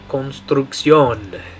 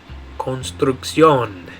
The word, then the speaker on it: construcción: In English we'd say construction. In Spanish you're going to say construcción. Construcción. So in English it's construction. In Spanish it's construcción. Okay, and by the way,